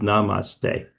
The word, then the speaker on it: namaste: They say namaste. In America, they say, "Have a nice day." It rhymes with namaste.